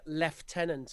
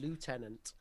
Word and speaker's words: lieutenant: Whereas in the US they say lieutenant, which is how it looks in English. Yeah. But we spell it the same, but we say lieutenant. I've been saying it like an American.